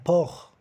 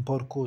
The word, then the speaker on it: porc: Un porc. Que é mais fácil para vocês porque é mais perto do português, um porco, sabe? Le cochon, un porc. Mas cuidado, o C não se pronuncia.